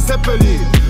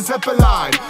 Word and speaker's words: Zeppelin: Tylko muszę skończyć latać, hashtag Zeppelin. Pewnie wymawia się to poprawny Zeppelin.